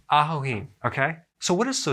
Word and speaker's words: ajoene: good thank you very much thanks so it's Ajo e okay so what is so special about this